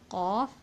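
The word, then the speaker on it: ق: Okay, when aqsul lisan touches the soft palate, there will be pronunciation of qaf, and it will be pronounced like aqo, iqo, oqo.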